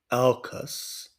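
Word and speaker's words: AUKUS: coordinated between um what's known as Arcus alcas I think I'm pronouncing that right which is a u k u s which is a kind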